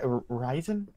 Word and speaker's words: Ryzen: And sounds like Ryzen.